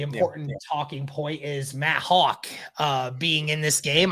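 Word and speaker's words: Hauck: the important thing yeah is this name uh hawk is that how you say his last name yeah that's how you say it hawk okay cause i've been saying hack i've been saying hack yeah i said that before when it first came out but it's actually hawk yeah okay hey guys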